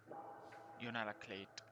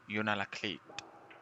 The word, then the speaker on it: Unalakleet: Hold on, we're going to look up how to pronounce that one. Utica. Okay. Hold on, here we go. Unalakleet, Alaska. Hold on. Unalakleet.